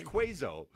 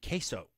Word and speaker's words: queso: room great and your other child's name is quazo quazo what what is he Quanza no queso queso queso cheese Barbe Q Texas they all